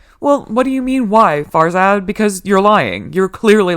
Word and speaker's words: Farzad: Farzad.